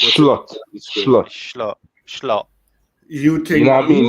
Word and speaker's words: Slot: fair enough it's not it's not actually pronounced slot by the way it's schlot schlot schlot schlot you